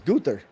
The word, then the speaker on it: Gunther: It's Gunther.